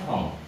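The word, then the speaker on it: 本: Buku itu bahasa Jepangnya hong. Oke, nah n di akhir kata atau di akhir kalimat dibacanya eng. Ya, hong jadinya. Hong. Hon tapi hong. Tulisannya hon, bacanya hong.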